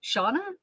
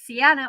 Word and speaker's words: Seanna: be, but it's the feminine version of Shawn. And Shawn in Ireland and John are interchangeable. And my my bloodfather's name is John. So I basically my name is Janna, but it's actually Shauna.